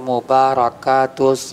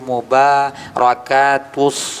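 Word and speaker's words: المباركات: Attahiyatul mubarokatus shawatut thyibatul lillah. Jadi kita koreksi langsung. Maaf nak jadi bacaan yang benar. Attahiyatul mubarakatus shawatut thayibatu lillah.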